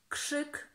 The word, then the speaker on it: krzyk: And as you can see, the RZ we pronounce as sh, sh, krzesło, krzesło. Sło. And the same rule applies to krzak, krzyk, krzyk, krzywda, krzywda, and many more.